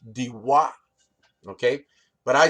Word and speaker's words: Daiwa: yeah it is that it's not pronounced daiwa it's actually pronounced diwa okay but i say daiwa right because i'm a